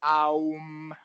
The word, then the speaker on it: aum: basically, the way the word is said is aum, but No, no, there's a I'm syllable saying you're saying if you're saying if